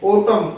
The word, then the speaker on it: autumn: जैसे AUTUMN ओटम। ओटम में M के बाद N है, तो इसके अंदर N साइलेंट रहेगा, इसको बोलेंगे ओटम।